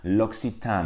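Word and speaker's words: L'Occitane: ilgili ufak bir Elif eğer bir kelimenin Eğe ile bitiyorsa o e telaffuz edilmez arkadaşlar buradaki 2C yürüyorsunuz biraz kafa karıştırıcı olabilir İlk j2k olarak yer c i SS olarak telaffuz ediyoruz arkadaşlar yani bu Kelimenin doğru telaffuzu loksitan mi loxitane Evet biraz sosyal medya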